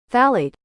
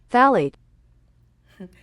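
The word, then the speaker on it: phthalate: love is the one that no one can say because of this p in the front but this is how you say it phade phet I had to put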